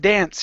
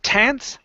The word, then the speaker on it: dance: Now, let's start off with dance here. So instead of tance, okay, the D is a voice sound. Dance.